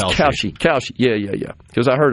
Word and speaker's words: Kalshi: I think it's Kalshi. Kalshi. Yeah. Because I heard her pronounce it numerous times.